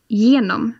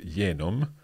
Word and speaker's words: genom: So, for example, the word genom, which means through. So I'll put that one in, but that one goes in a different color. So genom. But let's change the color in, or we'll put a highlight there. That's genom. That's not the same as this. Exactly. So you don't get this sound with this word.